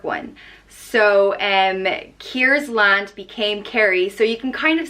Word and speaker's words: Kerry: Next up is Kerry, and it's pronounced Kerry.